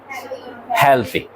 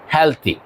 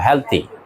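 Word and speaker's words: healthy: স্বাস্থ্য আছে আমরা যদি বলি স্বাস্থ্যকর ইংরেজি কি হেলদি হেলথি আমরা হেলদি বলি মেয়েরা এটার উচ্চারণ আমরা কি বলি হেলদি দ দিয়ে বলি না নো এটা ত দিয়ে বলবা হেলথি এটার উচ্চারণ কি হেলথি হেলথি and plant life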